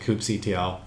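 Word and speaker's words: kubectl: start using coop CTL KUB e CTL people pronounce it differently I pronounce it coop CTL and that is the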